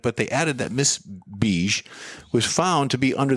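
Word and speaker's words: Begue: Spell that. B-E-G-U-E. Beige.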